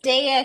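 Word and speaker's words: Dehya: about oh um that's DEA she's from ginin Impact well Dia I'm sorry it's the it's Dia is how you pronounce her name I not that anybody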